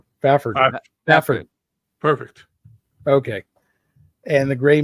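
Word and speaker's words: Fafhrd: I assume this you're supposed to say, how do you pronounce this name? Fafford.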